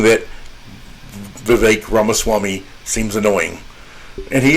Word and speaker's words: Vivek: Vivek rhymes with Cake Ramaswamy, tried to claim that no, that's not true.